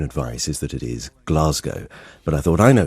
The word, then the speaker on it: Glasgow: and had been told emphatically it should be pronounced Glasgow, so I told him I would look into it. And the BBC's own advice is that it is Glasgow.